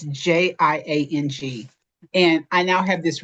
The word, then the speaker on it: Jiang: I don't want to mispronounce it, but the speaker was Luana Jiang. It's Jiang.